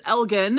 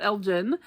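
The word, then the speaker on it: Elgin: is Elgen and not Elgen. Um so I will try to change my pronunciation there. Like I said, I am familiar with this town in Oregon called Elgen. Spelled the same but pronounced differently.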